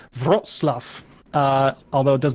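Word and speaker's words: Wrocław: to look up how to pronounce it it's pronounced brought Slough although it does not look like that when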